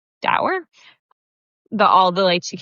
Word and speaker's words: Doerr: Dower.